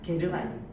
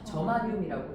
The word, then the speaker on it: 저마늄: 게르마늄. 그런데 선생님 때는 게르마늄이라고 배웠는데요. 지금은 뭐라고 읽죠 얘들아? 저마늄이라고 읽죠. 그치? 외국 가서 게르마늄이라고 하면 못 알아들어요. 영어 발음 그대로 해야 되는데.